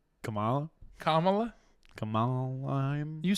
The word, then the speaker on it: Kamala: Comma lime 2024? I don't know what that means. Oh, like Kamala?